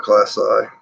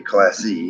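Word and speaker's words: klaasi: of these Latin words, they end, the letter I ends in the I sound. It won't be E. It won't be class E. It would be class I. Homori. This I and that I. So it's an I sound for proper pronunciation.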